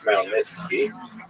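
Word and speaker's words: Khmelnytsky: It's actually pronounced Malnitzki with a gut at the beginning.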